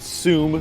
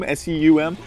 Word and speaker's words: SEUM: you a game called sum speedrunners from hell I think that's how you pronounce it sum seum I'm assuming it's pronounced zum because uh that rhymes with doom and as you can